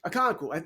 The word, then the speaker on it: Okonkwo: Okanowo. I can never get that name right. Chig Okonkwo was that? Chig. We're going to call him Chig. Okonkwo.